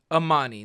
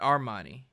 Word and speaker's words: Amani: Amani, not Armani.